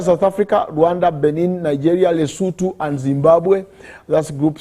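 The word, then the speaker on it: Lesotho: Group C are South Africa, Rwanda, Benin, Nigeria, Leutu and Zimbabwe. That's group C. uh not le but lutu that is the pronunciation of that uh nation then group D uh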